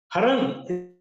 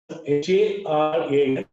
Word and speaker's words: Haran: Haran is pronounced as Haran and also Haran.